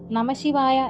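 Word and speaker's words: നമഃശിവായ: മാറിയാൽ അർത്ഥം തന്നെ മാറും ഒരു ഉദാഹരണം പറഞ്ഞാൽ നമശിവായ എന്നാൽ ശിവനെ നമിക്കുന്നു എന്നാണ് അർത്ഥം നശ്ശിവായ ആയാലോ നാശമാകട്ടെ എന്ന് അർത്ഥവുമാകും അതുകൊണ്ട് ഭക്തജനങ്ങൾ എപ്പോഴും ബോധവാന്മാരായിരിക്കുക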